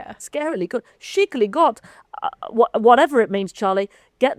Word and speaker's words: skikkelig godt: Skickling. No, there's a bit underneath that says how to pronounce it. So, oh yeah, I should have read that and then try again. Shicily got.